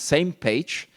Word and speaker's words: SMPAG: it a few times, same page. I mean, we had some thinking about how you would pronounce this acronym, SMPAG, and finally, so we agreed on the name same page.